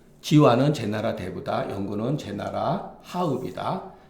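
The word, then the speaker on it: 蚳鼃: 맹자가 지아한테 이러 말하기를 지화가 사람 이름이라고 합니다 발음은 지와 그대가이 요거는 자는 뭐예요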